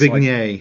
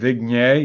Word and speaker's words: Viognier: It's Viognier. Like Viognier. Yeah, It's kind of French. yeah, Viognier. very French. Yeah. It looks like Wagner or something but it's Viognier. Viognier.